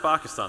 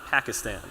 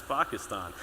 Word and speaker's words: Pakistan: uh say the country's uh Pakistan because it's pronounced Pakistan not Pakistan he actually pronounces it the way it's supposed